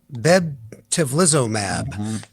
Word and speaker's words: bebtelovimab: How do you pronounce that one right there? Why don't you take it, Steve? It is called bebtelovimab.